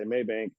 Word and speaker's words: Mabank: where are y'all located one of my customers will jump in and say Maybank and then we'll have somebody else that's not a customer and they'll say Maybank but they'll spell it with a Y So for anybody watching it's m-a-b-a-n-k maybe and that is